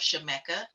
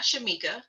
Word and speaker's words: Shemekka: want to correct myself Shameka not Shamika listen y'all know I'm